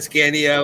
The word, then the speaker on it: Scania: Yeah, that's Scania.